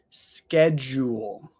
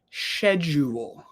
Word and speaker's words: schedule: see is this so for me I say schedule schedule there are some people who say schedule schedule but I think that that is only some people in the UK definitely not all of